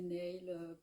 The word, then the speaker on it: Nåle: euh mais en fait en vrai ça se prononce Nole je suis même pas sûre de bien le